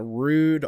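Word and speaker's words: Ruud: make a rude rud if you pronounce that rud i've been corrected by some of their guys before so they call it rude and they say it's rude to not pronounce it correctly uh so uh they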